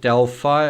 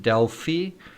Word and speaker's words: Delphi: You guys pronounce it Delphi. I would pronounce it Delphi. But yeah, that is a difference in pronunciation.